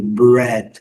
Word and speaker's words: bread: O nosso pão de cada dia, bread, colocamos o U aqui para lembrar, letra A não é pronunciada, e o som do é praticamente igual, né? O E do português, né? É, bread.